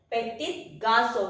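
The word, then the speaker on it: petits garçons: Petit garçon. We pronounce it as the same as we won't pronounce the last S until and unless it is followed by a vowel.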